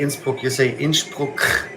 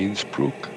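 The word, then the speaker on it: Innsbruck: You You don't say Insp. That's how the locals say it. I can I can switch to uh Bavaria, so it's not a problem. But in English you say inbrook.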